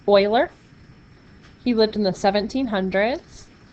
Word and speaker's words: Euler: word euler was the same but it's actually pronounced boylar he lived in the 1700s but you might